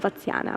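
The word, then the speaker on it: Vatsyayana: But this man who has compiled the text, you call him Vatsyana, right? I pronounce it okay?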